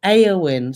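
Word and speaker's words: Éowyn: The storm's name is from the Lord of the Rings, pronounced Eowyn.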